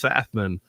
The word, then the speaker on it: Pfaffman: the P silent and he confirmed yes the p is silent it's fafan like your K yeah